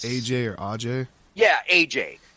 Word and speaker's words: Ajay: It's AJ or Ajay. yeah, AJ. He calls himself AJ, but because his name comes from a region where it probably would be pronounced Ajay, everybody else pronounces it Ajay, and it's one of